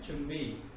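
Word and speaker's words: 준비: Jumbi, Junbi, लेकिन pronunciation है Chumbi.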